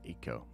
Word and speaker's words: Echo: and echo are back it's pronounced tick and eco interesting um yeah can